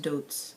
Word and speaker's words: Deutz: mean a lot of people say dudes whatever i'm not french um but i believe it's pronounced dudes i'm probably completely wrong and i'm gonna